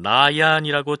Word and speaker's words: 나얀: 그러면 지금부터 이 내안의 반란 사건이 어떻게 발단돼서 전개됐는지 그 경과를 김순자 교수와 함께 차근차근 살펴보도록 하겠습니다. 우선 몽골 발음으로는 일반적으로는 나얀이라고 칭하는 이 내안이라는 사람이 어떤 인물인지 알아볼까요?